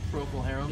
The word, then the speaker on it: Procol Harum: a Procol Harum I don't that's why you pronounced Procol Harum it is I'm being told it is there